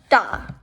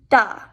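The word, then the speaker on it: 大: this is the chinese word for big it's pronounced da da so da is the chinese word for big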